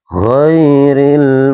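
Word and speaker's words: غير: Biasanya para pembaca itu ada yang membaca o ini seperti kayak huruf huruf Giril E tidak boleh dibaca huruf seperti huruf G teman-teman ya. Enggak boleh dibaca G atau mungkin dibaca kayak huruf K.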